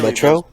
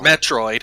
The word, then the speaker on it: Metroid: You said Metro? Clearly, those hips are all Metro. Metroid.